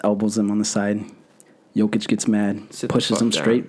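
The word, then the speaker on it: Jokić: Jokic, that's how you pronounce it?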